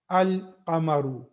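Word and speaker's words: القمر: Al-qamaru. Now, what is the importance of this is in the Qamariya letters, the lam is pronounced. The lam there is a sound of lam.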